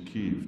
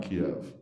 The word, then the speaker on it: Kyiv: And notice the Ukrainian pronunciation is Kyiv, not Kiev.